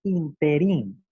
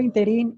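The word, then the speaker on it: ínterin: No, lo correcto es pronunciar o escribir interín. Interín. Es decir, interín no es una palabra aguda, es una palabra esdrújula y por lo tanto lleva su acento, su sílaba tónica, su sílaba fuerte en la primera I.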